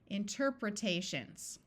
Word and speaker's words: interpretations: single consonant interpretations that almost sounds like like a word so let's change this long e to a short e interpretations here's a long word let's